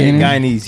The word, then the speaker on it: Guyanese: That's how you say it, right? Guyanese? Yeah, Guyanese, yeah.